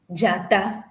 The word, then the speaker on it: dzata: So in this, we call it in our language as dzata. So let's call it in a syllabic form. Ja, ta, ja, ta. So combining the two of the syllables, we have jata.